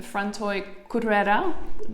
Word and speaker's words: Frantoi Cutrera: And so the place that I'm at right now, it's called Frantoi Cutrera, right? Am I pronouncing it right?